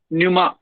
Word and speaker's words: pneuma: तो न्यूमा का मतलब एयर होता है, PNEUMA, न्यूमा इज एयर, पी is silent.